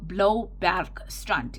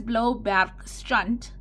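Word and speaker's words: Bloubergstrand: that is and then maybe go and Google Blow Bar strunt and I will spell that for you b l o u b e r g s t r a n d now what does blow back strunt translate in into English blueberg Beach blow for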